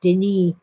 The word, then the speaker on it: Denis: It's spelled kind of like Dennis with one N, but the French, and he's a French Canadian, they pronounce it Denis.